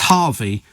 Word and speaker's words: HRVY: But it's Harvey, but in fact it's spelt HRVY.